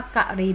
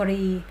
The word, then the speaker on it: กรี: ก็ จะ ตอบ จะ อ่าน ว่า กะหรี่ ได้ ไหม ไม่ ได้ ใช่ ไหม คะ เขา ก็ ต้อง ตอบ ว่า ต้อง อ่าน ว่า กรี น้อง ร้อง ไห้ เพราะ